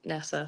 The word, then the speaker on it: Neasa: So, um yeah, it's definitely a complicated one, but most people kind of get it right with their pronunciation with Nisa.